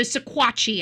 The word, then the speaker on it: Sequatchie: Sequatchie, Sequua, Sequat, and then Chie. So Sequatchie, I think, is the proper pronunciation.